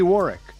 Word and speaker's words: Warwick: My guest, Ricky Warwick. Don't pronounce that second W.